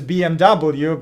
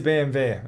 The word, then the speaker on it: BMW: uh i know that it is bmw but it is bmv and um germans russians ukrainians all say the same so uh so no